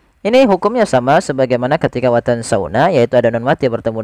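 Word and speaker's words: وَتَنسَوْنَ: Watansuna watansauna.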